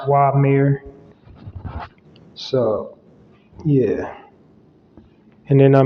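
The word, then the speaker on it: Uamer: mayor Farm in this build u-a-m-e-r but it's pronounced why mayor so yeah and then let me just fact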